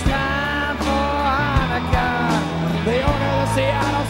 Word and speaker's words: Hanukkah: You have to say that the right way, Hanukkah.